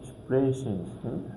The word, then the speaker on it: sprechen: And we are going also to find S P in a word, so it will be like pronounced like ship. Ship. So, sprechen, spinnen, meaning spin, like that.